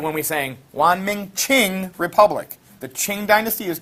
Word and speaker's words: Qing: So this Q-I-N is pronounced Qin. That Q gets like a CH sound. Just like when we sang Wanming Qing Republic.